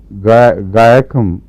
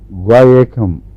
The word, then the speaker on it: Guaiacum: اس کی اسپیلنگ ہے GUAIACUM، گائکم. میں گائکم ہی پڑھتا ہوں اس کو.